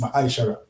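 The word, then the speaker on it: מעשר: It means 10th in the Hebrew and is pronounced mishara.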